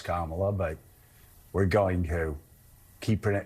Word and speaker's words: Kamala: how she's the other we're going to mispronounce her name on purpose we know it's kamla but we're going to